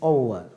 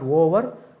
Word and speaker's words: over: The match is over, but we have a tendency to pronounce these words as over. This is not over, but over. See?